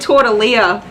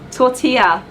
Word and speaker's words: tortilla: tortilla tortilla I keep I said torta Leah in that video tortilla I have to look at the packaging because I'm sure it's spelled with elves that's why I always say tortilla tortilla and then I